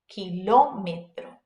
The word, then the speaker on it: kilómetro: What that accent mark is telling you is to put emphasis on it when you pronounce it. So you go kilómetro, kilómetro. All right, great.